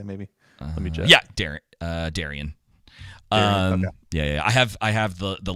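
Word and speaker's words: Daeron: Wasn't it Darren? Yeah. Darren, I want to say maybe. Let me check. Yeah, Darian.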